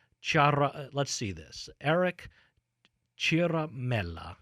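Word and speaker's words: Ciaramella: let's see this Eric Chiara melih he's an Italians will say that we'll use the Italian pronunciation Chiara Mela apparently he's a registered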